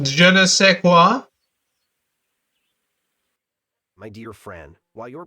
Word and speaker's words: je ne sais quoi: It's pronounced je ne sais quoi.